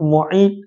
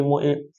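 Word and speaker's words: معيط: uqbah bin Abi Muid ejaan dia mim Ain ya Ta Muid maka ada ada yang menyebut Muid ada yang menyebut muayyad tapi lebih disebut Muid uqbah bin Abi Muid terima kasih banyak-banyak kepada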